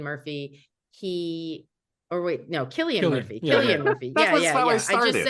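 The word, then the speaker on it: Cillian: it San or Killian I never know kilan Killian Murphy Killian Murphy okay I've been saying it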